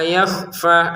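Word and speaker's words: يَخْفَى: Tapi innallaha la yakhfa. La sama fa masing-masing dua harakat.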